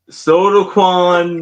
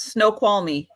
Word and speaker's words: Snoqualmie: So Sodaquan me I don't Close. know. Very close. Snoqualmie.